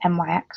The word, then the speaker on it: NYX: Again, I think Rachel's using the NYX or NYX, depending on how you say it.